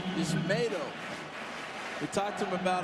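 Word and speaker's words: Yusmeiro: And Joe, his name is Yismato. We talked to him about it the other day. Everybody's been calling him Yismiro. It's Yismato, like tomato.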